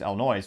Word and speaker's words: Illinois: if you're you know not from there you mispronounce it's Illinois which maybe I'll call it that just cuz